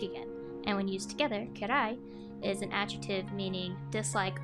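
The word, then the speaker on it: 嫌い: The first kanji is pronounced again as dai, and the second is pronounced as kira, with the last character actually being the hiragana for i. The first kanji means big again, and when used together, kirai is an adjective meaning dislike or dislikable.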